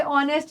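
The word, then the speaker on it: honest: एन को बेटा जो भी वर्ड एच के साथ स्टार्ट होते हैं लेकिन उनमें एच प्रोनाउंस नहीं होता। उनके साथ एन लगता है। जैसे ऑनेस्ट मैन आयर अभी आयर का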